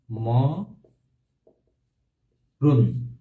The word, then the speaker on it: মরণ: মরণ বানা হচ্ছে মূর্ধনা কিন্তু এটার উচ্চারণ কি হবে উচ্চারণ হবে বলতো পারবে তোমরা উচ্চারণ হবে হ্যাঁ ম রুন ম রুন এখানে কিন্তু দন্ত চলে আসবে ম রুন দন্ত চলে